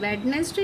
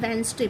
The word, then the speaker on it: Wednesday: इसे student वेडनेसडे नहीं बोलते हैं, वेंसडे बोलते हैं। ओके, बिकॉज यहाँ पे डी साइलेंट है तो वेंसडे होता है।